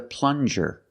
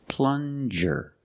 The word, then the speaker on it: plunger: good this is a plunger plunger use the regular n and the JJ sound like juice plunger this is a plunger